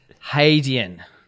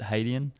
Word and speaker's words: Hadean: Haden. Yeah. So, hey, not had. It's not haden.